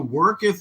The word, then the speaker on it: worketh: My superior nature worketh through So worketh is pronounced worketh. thee. It's not a common one. It's like earth.